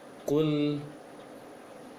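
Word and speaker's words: قُلْ: Maka ketika membaca ku, ketika membaca ku yang dhammah, kemudian masuk ke lam yang sukun, bibir tidak boleh menebal lagi, tidak boleh dimonyongkan lagi. Prakteknya, kul, jangan kul, tapi kul a'udzu, kul seperti itu bacanya dalam sukunnya.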